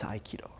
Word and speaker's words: Aikido: of iido and and they are actually written exactly the same way in Korean you pronounce it hopo in Japanese iido they share a lot